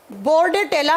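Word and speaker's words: Bordetella: तो बचा क्या आपके पास ऑप्शन में, बार्डेटेला। बार्डेटेला पर्टुसिस, पूरा नाम लिखो आप, बोर्डेटेला, प्रोनाउंस इसको बार्डेटेला करा जाता है।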